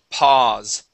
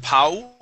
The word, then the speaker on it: pause: last one here is pause pause pause pause good yeah and instead of Po we it is only an a sound okay very good thank